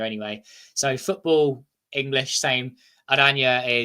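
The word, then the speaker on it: Oranje: Adanya is orange in Dutch, so it's spelled orange, but you replace the G with a J, Football Adanya. Yeah.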